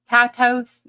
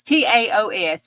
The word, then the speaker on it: Taos: Tatos? No, it's not. Taos? No, it's Taos.